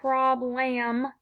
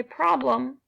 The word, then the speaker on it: problem: a closed syllable here but because we don't say problem or problem we say problem we're that sound then I'm gonna put my my squiggle above my E okay so this is